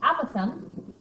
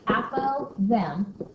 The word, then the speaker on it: apothem: You will need the apothem, looks like apo-them, pronounced apothem, and you need the perimeter.